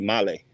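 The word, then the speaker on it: Malé: name of the city Malay it's spelled male m a l e but there's that little thing above the E that changes it from E to e so it's Mal let's go up one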